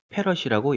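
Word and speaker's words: farad: F라고 쓰고 페럿이라고 읽어요.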